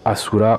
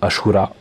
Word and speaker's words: Ashura: Donc ils appellent ça le Asura Operation System. Je pense que ça se prononce plutôt Ashura.